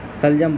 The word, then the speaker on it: शलजम: Turnip लिखा था यार इसी को सलजम कहते हैं सल जम सल सल जम जम स्पेलिंग हिंदी कम आता है। शलजम बोलते हैं इसको।